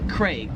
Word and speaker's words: Craig: In Australia, they pronounce it Craig. They really emphasize that a Craig. Whereas in America, we just kind of pronounce that name as like as if it had an E, like C R E G. Craig.